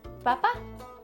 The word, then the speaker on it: papá: Papa in Spanish is papá. Same thing. Sounds similar. Just a little accent on the end. So it's papá, papa, or dada.